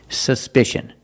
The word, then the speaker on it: suspicion: look at this word suspicion in this word the c is pronounced with the sh sound like in fish or wish sh sh there's no